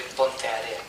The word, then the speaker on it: Ponteareas: Ángel Rodríguez Gallardo de ponteareas se pronuncia areas es puente Arenas en español y debo decir que